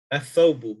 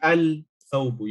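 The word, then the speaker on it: الثوب: For example, if you have the word athawbu, which means the garment. So this lam here is not pronounced. You will say athawbu, athawbu. The alif will join directly to the tha, and the rest of the word will be pronounced thereafter. Athawbu. You cannot say al-thawbu. You cannot pronounce the lam.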